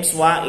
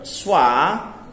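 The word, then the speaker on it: schwa: The swa vowel needs no keyword because the name swa is so well established. But note that the word swa doesn't actually contain the swa vowel.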